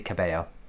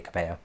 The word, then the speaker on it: Cabello: I know that would be Cabello, like Camille Cabello.